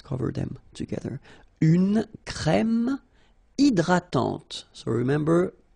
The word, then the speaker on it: hydratante: Une crème hydratante. So remember, H is not existing, and then this Y is pronounced like E. Hydratante. Okay, don't insist on the final E, and this is nasal. Hydratante.